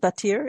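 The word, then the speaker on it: Batyr: the relationship now with is it batir is that what it's pronounced yes yeah yeah but here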